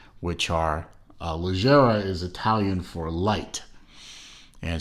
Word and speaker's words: Leggera: And I am pronouncing Leggera correctly because, being a car nut, I know of, and if you are a car nut too, then you may also know of the Lamborghini Super Leggera lines, which are Leggera is